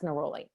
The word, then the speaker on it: neroli: That's neroli. So neroli, it's spelled Neroli, is a beautiful, beautiful essential oil, and it is for deepening a commitment.